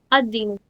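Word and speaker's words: الدين: Okay, how do we pronounce it? Al plus deen. Al plus deen is equal to ad-deen. Why? Because we have a 14 constant in Arabic.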